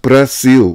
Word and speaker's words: Brasil: In Brazil, at the end of words, the consonant L is pronounced like U. In most Brazilian dialects, thus the name of the country is pronounced Brasil.